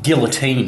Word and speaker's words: guillotine: locke here safety expert the common guillotine or um guillotine as the french pronounce it was named after a